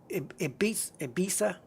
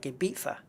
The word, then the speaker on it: Ibiza: You know, it's, and like, Ibiza, I think they pronounce it, but it's the Z is a TH in Spain, so it's like Ibiza.